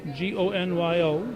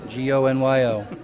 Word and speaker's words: Gonyo: Gonyo. Gonyo. It's not one of those ganyons.